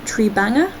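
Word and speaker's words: Tribhanga: pose is also significant it is called tree banger I think that's how it's pronounced which translates to three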